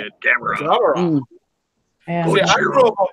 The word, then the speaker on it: Gamera: Gamera.